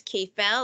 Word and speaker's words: KFL: logo so this is k-fell a bit on KFL they call it careful I call it K fell because it's rhyme it rhymes with the cafe and you have the